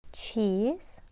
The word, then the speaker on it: cheese: and transcribe these words cheese CH sound and then long E cheese Z and not s and there's no e it's silent long e and then